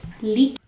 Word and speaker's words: liedjies: Okay, so the D and the J make a K sound.